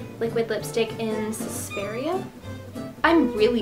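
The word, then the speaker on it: Suspiria: D liquid lipstick in spiria I'm really not good at pronouncing these names it's like suspense but with an A at the end so this is how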